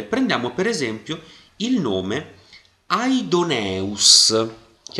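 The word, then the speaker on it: Ἀϊδωνεύς: una sillaba diversa e in questo caso vedete la dieresi è abbastanza importante perché mi fa capire che questo non è uno yota scritto e che quindi io lo devo leggere perché fa parte di una sillaba diversa e quindi io leggerò aidoneus e non leggerò adus quindi yota non è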